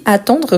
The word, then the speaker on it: attend: Donc, j'attends, tu attends. Il, elle, on attend. Donc ici, c'est avec D. Je vous rappelle toujours, on ne le prononce pas.